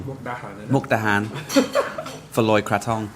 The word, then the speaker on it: Mukdahan: Mukhadan for Loy Kraton. Have I said it wrong? Mukdahan, innit?